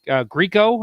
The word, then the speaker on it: Grieco: and and anthony great grieco i believe is how you say his name greco yeah greco greco yeah so uh uh we'll